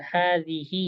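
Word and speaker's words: هذه: Man hadhihi ya, itu dibacanya kan hadhihi.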